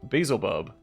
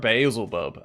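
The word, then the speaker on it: Baalzebul: rulers madini Arc duuk Basel buub or bazel buub I've heard it pronounced two different ways gorian fly fed fat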